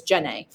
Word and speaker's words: Djenne: Mosque of Djenne, and that's how you say that. That D is mostly silent, so it's Djenne.